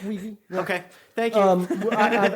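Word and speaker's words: Weege: actors who were on Barney Miller cuz cuz Ry Wii uh was the you know is that how you pronounce his name it's Wei okay thank you um I've actually heard the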